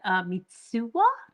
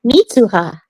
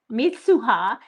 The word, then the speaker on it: Mitsuha: I love the names Taki and Mitsua. Is that how you say it? I think Mitsuha. Mitsuha.